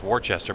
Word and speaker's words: Worcester: Look, people think it's Worcester, Massachusetts, but it's Worcester.